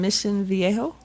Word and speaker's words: Mission Viejo: And I also have a cousin in Mission Viejo. Did I say that one right? Yeah. Good pronunciation.